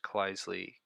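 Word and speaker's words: Kleisli: let's do this thing cleisley composition implement composition within the monad environment pronounced cleissly composition so is it proper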